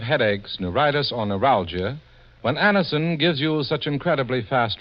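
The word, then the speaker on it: Anacin: the pain of headaches neuritis or neuralgia when Anison gives you such incredibly fast relief there's a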